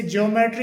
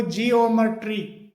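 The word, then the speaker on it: geometry: ई टी आर वाई जिसे ज्योमेट्री बोला जाता है सामान्यत लेकिन इसका सही जो प्रोनाउंसिएशन होता है वो जी ओमेट्री जी ओमेट्री इस प्रकार से होता है।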